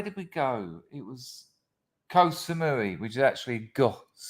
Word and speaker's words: Koh Samui: we go it was koh samui which is actually it's not pronounced co little joke uh mumford